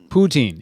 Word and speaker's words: poutine: and got a little a little blip yesterday poutine is the way you pronounce it okay so a netflix yesterday released